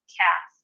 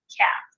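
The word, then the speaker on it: כף: So with the Dagesh Lene, it's pronounced that hard K.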